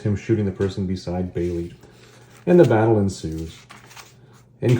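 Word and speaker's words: Bêlit: And there's the comment right there, pronounced by us anyways, Belit. That's important.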